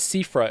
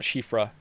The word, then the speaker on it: Sifra: I still said, it's Sifra, isn't it? Not Shifra.